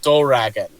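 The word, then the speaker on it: ドラゴン: Like the English word dragon is pronounced in Japan doragon.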